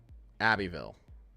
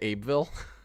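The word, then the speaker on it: Abbeville: Abyville Abbyville. Well, that's much easier than what I whatever I was saying. Did I say Abeville? Aville. Okay. Abbyville.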